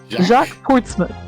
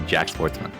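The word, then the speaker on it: Jacques Portsman: to say that Jack Jack portsman prosecutor Jack wouldn't pronounce this because it's a French name but his name is literally Jack Sportsman Jack Jack Sportsman yeah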